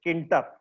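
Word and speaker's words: Tkinter: हुई है किंटर की, लेकिन यहाँ पे टी साइलेंट है ना, तो टी साइलेंट है, तो टी साइलेंट है, सिर्फ बोलते हैं इसको हम लोग, जो प्रोनाउंसिएशन होता है इट इज नोन एज किंटर।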